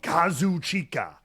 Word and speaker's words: Kazuchika: in the past but if you listen to the Japanese ring announce they literally call him Kazu chica yeah they pronounce all all the um which is not what they usually do right they'll usually like eat some of the syllables as they say the the name normal conversation oh in English yeah